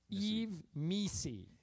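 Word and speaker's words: Yves Missi: MSI in new New Orleans okay so it's pronounced Eve Mei Eve M like pronounce it like me s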